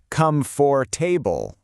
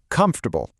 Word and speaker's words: comfortable: It's so tempting to say come for table, right? But in natural English, all the energy, all the stress is right at the beginning. Comfortable. Hear that? Comf. That's the peak of the mountain. And then the rest of the word just kind of tumbles down the other side.